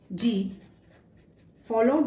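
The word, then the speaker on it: gifle: इफ ji followed by आई ई, तब इसका pronunciation और उच्चारण ज से होगा, ज। कुछ एग्जाम्पल देखते हैं। जिफ्ल। जिफ्ल मीन्स स्लैब। इसमें जी के बाद आई आया है, तो इसका प्रोनाउंसिएशन ज से होगा, जिफ्ल।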